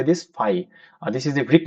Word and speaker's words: phi: FB you can you say this five. This is the brick letter. Okay. You how you pronounce it?